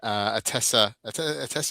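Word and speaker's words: Attesa: Hey, listen, let's take a little break and do the giveaway for the Citizen Atessa. Was I saying it right? Atessa. Yeah. Atessa. Yep, Atessa. Atessa.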